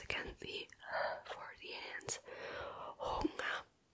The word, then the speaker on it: Hunger: it down like that, you just say it like an A at the end. Hunger. Hunger. And you're also kind of just don't like pronounce the G correctly. You're just gonna let it flow and say Hunger. That is how you say Hunger in German.